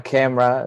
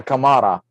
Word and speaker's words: Kamara: It's not a camera. It's not Maha camera. It's Maha Kamara.